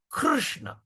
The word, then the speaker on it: Krishna: just you don't use the word key krishna krishna krishna so that is a proper pronunciation all right so when you pr pronounce